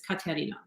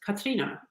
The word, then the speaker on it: Katharina: And like technically the pronunciation in German is Katarina. And when I grew up, it was Katrina.